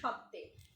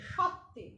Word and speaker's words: সত্ত্বে: আমরা সবাই রাজা আমাদেরই রাজার রাজত্বে, নইলে মোদের রাজার সনে মিলব কি সত্ত্বে। এখানে দেখেছো সত্ত্বেটা কেমন ভাবে আছে, শয় ব মানে সত্ত্বে, উচ্চারণটা হবে সত্ত্বে, সতে না, হ্যাঁ সত্ত্বে, জোর দিব এটা, মিলব কি সত্ত্বে।